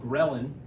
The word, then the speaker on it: ghrelin: It makes another one which is interesting called ghrelin. I'll write it up here. Sounds like gremlin.